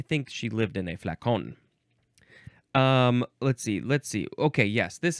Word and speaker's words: flacon: Now we have flacken, or flacon, or how would you say that? Flacon, or flacon. That one seems more proper.